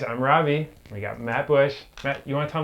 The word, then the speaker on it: Busch: Busch is spelled B-U-S-C-H, like the beer, not like the shrub.